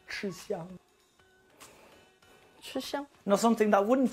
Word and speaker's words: 吃香: In Chinese, we pronounce this like 吃香, 吃香.